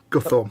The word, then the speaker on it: Guthorm: Guthorm. Yeah, Guthorm with the TH pronounced I like was just about to say the parrot's bloody puffing, isn't it, you pillar?